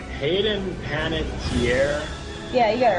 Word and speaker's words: Panettiere: I can never pronounce this name right. Hayden Panettiere.